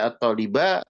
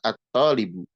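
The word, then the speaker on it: الطلبُ: Makanya dibacanya u tidak dibaca a tidak dibaca i. Tidak dibaca at tholiba tidak dibaca at tholibi. Tapi dibacanya adalah at tholbu.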